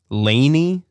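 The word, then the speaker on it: LANY: And then we got, I think it's pronounced Laney, but you know that band, Jason. Capital L, capital A, capital N, capital Y. Lonnie? Yeah, I think it's Laney for sure.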